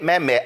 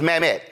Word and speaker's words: Mamet: let's just be real David Mt I think that's how his name is pronounced is a legendary screenwriter are you trying to convince me that if your last name was mamt and you asked for